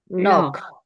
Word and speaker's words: knock: 넉. knock, K는 묵음입니다.